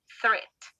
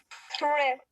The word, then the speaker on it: threat: Es una palabra que tiene un sonido TH, le llamo yo, y que no es común en español. Bueno, más bien no es propio del español, por eso nos podría